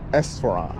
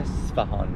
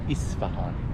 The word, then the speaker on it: Esfahan: So you pronounce it Esfahan. Uh Esfahan. Esfahan Yeah. But in English, they call it Isfahan.